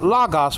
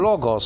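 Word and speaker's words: λόγος: from God himself, so you could say the lagos or logos, for that lambda, omicron, gamma, omicron, final sigma.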